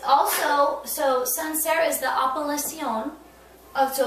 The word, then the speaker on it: Sancerre: So let me just make sure that I'm saying it correctly. So this is from a region that's called Sancerre. Is that right? This is correct. Sancerre. And it's also, so Sancerre